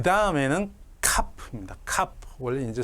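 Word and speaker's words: כ: 그래서 카프는 원래 키읔으로 발음을 하는데 이 점이 없으면 조금 부드럽게 해서 카 이렇게 키읔하고 히읗이 합쳐진 발음을 실제로 하기도 합니다.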